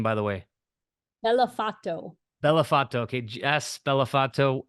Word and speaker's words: Bellofatto: you say your last name by the way bellato bellato okay Jess bellato it's so great to